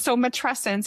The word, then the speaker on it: matrescence: So matrescence, it rhymes with adolescence.